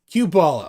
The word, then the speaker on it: Q-Ballah: my real name cue ball is my nickname cubala okay there you go Cuba Cube for Quebec not related all right Quebec well welcome uh cubala thank you very much what what's the Hat